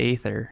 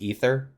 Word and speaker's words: aether: When you break it down to the aether. It's technically pronounced ether.